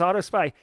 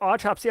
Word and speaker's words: Autopsy: looking back on it as soon as someone said it's autopsy I'm like that makes sense a because it's a forensics tool B because like it's spelled autopsy not Auto spy and see like how